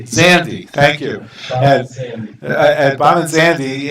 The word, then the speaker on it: Zandi: the semifinal open match, and it's between Bahman, Zandi, how do you pronounce his last name? Zandi, thank you.